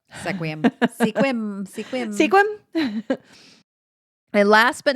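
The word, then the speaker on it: Sequim: another one that is commonly pronounced because it is spelled sequum sequum squim squim squim and last but not least the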